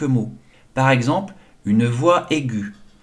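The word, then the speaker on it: aiguë: par exemple une voix aigue le tréma est sur le U pour indiquer qu'il se prononce et que le E est muet on ne l'entend pas ah d'accord et tréma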